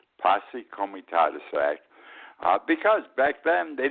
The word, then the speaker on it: Posse Comitatus: the book since about 1880 is called the passe Comitatus Act the correct pronunciation Posse Comitatus Act because back then they didn't want the